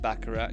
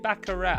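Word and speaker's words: baccarat: I've never dabbled with bakarat you know is it bakarat I heard someone called it bakara the other day but they were American so um Americans do like to pronounce everything incorrectly coming from me I'm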